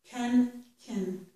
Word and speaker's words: can: What matters is that whichever vowel sound you use is short, and it's not the full vowel sound, okay?